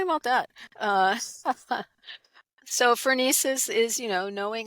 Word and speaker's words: phronesis: I know that you also discuss practical wisdom and phronesis. I think that's how you pronounce that, or phronesis, and Phronesis, yeah.